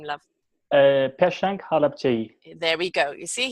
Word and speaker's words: Peshang Halapçı: No, I'm not pronouncing it right. I'm terrible with names. Please give us your name, love. Peshang Halapçı.